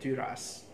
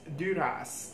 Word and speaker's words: Duras: Apparently, if I had checked the Wikipedia entry of this author, I would have known the pronunciation was Duras, not Dura.